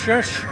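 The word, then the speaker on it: Rzeszów: How do I know it's pronounced Rzesz?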